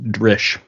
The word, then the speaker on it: Dryll: It's funny, it's spelled Dryll, but it's pronounced Drish. It's Welsh for gun or cannon.